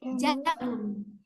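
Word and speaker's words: جَمَلٌ: Haza aja tidak panjang. Di sini ada alif. Setelah mim tidak ada alif. Kita bacanya pendek. Jamalun.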